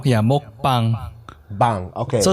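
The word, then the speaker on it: 먹방: Because I say mukbang. Like, how do you say that? So it's mok. It's like a longer O. Yeah, mokbang.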